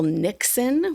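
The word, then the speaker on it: niksen: And so if we could just do what the Dutch call Nixon, which is spelled N I K Sen, which means roughly to do nothing deliciously.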